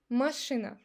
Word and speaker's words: машина: But when A is not under the stress, when it's unstressed, we pronounce it like A. So observe this with these two words. Книга, машина. I don't say книга или машина. I make it like A. Книга, машина.